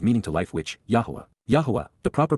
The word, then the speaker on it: Yahowah: Yahowah, the proper pronunciation of the name of Eloah.